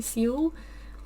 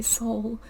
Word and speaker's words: Seoul: that's how what yeah russians people say see you but i think english people say soul my father's father was